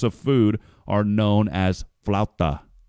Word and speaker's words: flautas: In other regions of Mexico, similar types of food are known as flauta. Did I say that right? Flauta? Flautas. The burrito. That's how you say it.